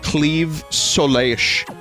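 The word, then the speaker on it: Claimh Solais: and it was like you have to pronounce it like a Welsh person says the name of their town and I I just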